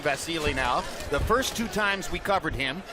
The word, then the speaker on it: Vasyl: So he pronounces his name Vasilei. That's why we're calling him Vasilei. Uh after we were incorrect the first two times we covered him back in the day, more than a year ago when we called him Vasile.